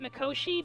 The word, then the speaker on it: Mikoshi: recreation of me from Mikoshi. I just want to say this or I guess they pronounced it Makoshi, but it's I'm I'm a recreation.